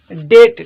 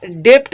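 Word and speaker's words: debt: टे नंबर ते असां वटि वर्ड आहे डेट। ठीकु आहे, डेट, बल्कि डेप्ट न पढ़बो। ठीकु आहे, डेट हिन जो सही प्रोनाउंसिएशन आहे। सो हिते बी ख़ामोश आहे, डेट पढ़बो।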